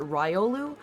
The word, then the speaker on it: Riolu: I think I also mostly use Riolu, but I feel like it's I I like switch my pronunciations depending on like whichever one I hear spoken the most recently. Like if I'm talking to someone and they pronounce it Ryolu, then I'm going to start calling it Ryolu.